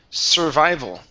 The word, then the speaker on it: survival: This word here is pronounced survival instead of sur sa.